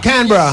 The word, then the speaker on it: Canberra: Canberra. Yeah, are you? Canberra.